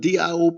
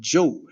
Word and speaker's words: Diop: J last name spelled Diop P the greatest African historian of the 20th century Shake an di some people pronounce it di but Joe d i o p go look